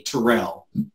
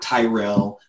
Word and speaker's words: Terrell: You know, I always remember smiling in grade school and middle school and high school when a teacher called me Terrell, not Tyrell or Terrence or Juan, you know, all of these names that are not mine.